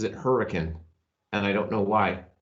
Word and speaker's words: Hurricane: There's a town here in Utah, and it's spelled hurricane, like the natural disaster or hurricane, but everyone pronounces it hurricane, and I don't know why.